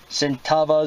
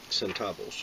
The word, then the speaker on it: centavos: My Henry repeating rifles, Spencer, Button, my 20 Centavas, is that how you say it? Centavos. Centavos from 1943.